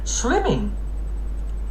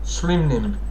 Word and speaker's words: Slim Nim: I spoke your name I spoke your name wrong you idiot you idiot I meant to do delete message and instead I print that spelling hang on Slim slim Nim that's what it is Slim Nim okay got